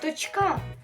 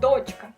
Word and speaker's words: дочка: Також само як і слово дочка наголос е ста ставимо на літеру А ми не кажемо з вами дочка ось наприклад Моя дочка